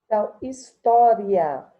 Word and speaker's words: história: Então, esse tó aqui, ele será uma sílaba tônica.